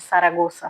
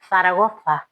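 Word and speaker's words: Zaragoza: E aí uma das mulheres, a primeira falou que ela vinha de Saragozsa, só que aqui se pronuncia Saragofa.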